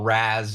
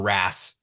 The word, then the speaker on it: RaaS: And that then led to, unfortunately, the development of ransomware as a service, which we just call RaaS or RaaS. People pronounce it differently.